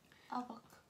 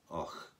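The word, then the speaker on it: Avoch: It's spelt A-V-O-C-H. Mm. What do you think that is? Avoc. You would expect it to be Avoc. Yeah. Yeah. But local people who live there call it Och.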